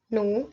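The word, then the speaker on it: ν: Nah, lambda nu, ini maksudnya frekuensi ya, V yang ini. Nu itu sih bacanya.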